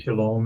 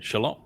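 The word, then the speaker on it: שָׁלוֹם: The W in Hebrew is pronounced either as a O or U.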